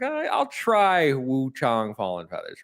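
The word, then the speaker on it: Wuchang: And I was like, "I'll try Wu Chong Fallen Feathers, right?" because apparently it's pronounced Wu Chong as is from what they've been telling me in the game.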